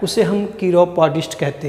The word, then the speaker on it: chiropodist: तो इस केर से एक शब्द बना CHIROPODIST, कीरोपोडिस्ट। जब प्रोनाउंसिएशन पे ध्यान दीजिएगा, इसके पहले मैं कायरो पढ़ रहा था, कायरोप्रैक्टर, अब मैं कीरो पढ़ रहा हूँ।